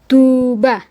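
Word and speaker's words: Tuğba: Douan misal da gunung ya da da bukan dak tapi da misal ada nama orang tuba. Jadi tunya agak panjang tuba. Yumusyagenya enggak dibaca tapi ee dengan keberadaan yumusyage di sini tum jadi panjang.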